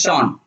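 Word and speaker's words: Jean: invented gear concept okay j-e-a-n but it is pronounced as sean sean luber cool how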